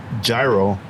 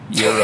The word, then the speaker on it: gyro: I learned today that it's not pronounced gyro. Gyro. It's pronounced Hero. Euro. Is that what? Euro. Euro. Euro. What did Renee say inside? She said Euro.